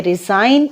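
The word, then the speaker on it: resign: की इंग्लिश होती है रिजाइन इसमें जी साइलेंट है और इसकी सिग्नल थर्ड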